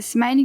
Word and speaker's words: SMI-LE: Smile, vous prononcez Smile, d'accord.